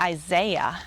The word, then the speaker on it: Isaiah: It's very simple to pronounce this in English, syllable by syllable, Isaiah. But in Hebrew, that would be Yeshayahu, or if you say it like my instructor, Yeshayahu. I'm not even very good at that. It doesn't sound anything like Isaiah.